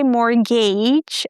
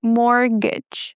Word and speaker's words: mortgage: Guys, the t is silent and we don't say mortgage, okay? There is no gain there. Mortgage.